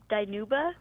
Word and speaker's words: Dinuba: It's actually for Dinuba.